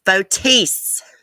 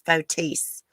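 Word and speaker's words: Fotis: i seriously doubt it it's fotese cement shoes actually that is the correct way to pronounce his name it's fotese he can't face his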